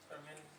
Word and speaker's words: Parmenides: Parmenides, Heraclitus, what are the English names? Parmenides.